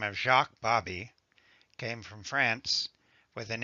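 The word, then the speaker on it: Baby: The name may be spelled B-A-B-Y, but it is pronounced Bobby, as in hobby.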